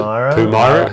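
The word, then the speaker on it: Pumyra: Okay, and then you have Pumira. Is that how you pronounce it? Pumara.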